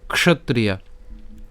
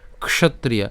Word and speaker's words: ক্ষত্রিয়া: কেমন করা উচিত সুখীন ক্ষত্রিয়া ঠিক আছে ক্ষত্রিয়া ক্ষত্রিয়া এই ক মূর্ধন্য এবং ত্রিয়া উচ্চারণ করছি একসাথে ক্ষত্রিয়া ঠিক আছে এরপর